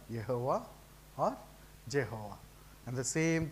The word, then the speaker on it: Jehovah: of holies were protected he is pronounced Jehovah until they write none